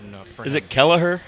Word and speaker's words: Kelleher: it Kelleher? How do you say this man's Kelleher.